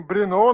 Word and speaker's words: Brno: Lembrando que a próxima etapa vai acontecer em Brno, na República Tcheca, no próximo dia 9 de agosto. Né? Exato. Em Brno. Em Brno? Brno, na verdade, né? Que se fala. Né? Se escreve Brno, mas é Brno.